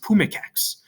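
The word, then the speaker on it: pumice ex: E on X, and it's going to be pronounced pumicex, right? You're going to kind of slide them or elide them into each other.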